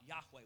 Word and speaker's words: Yahweh: Yahweh is the leading pronunciation for it.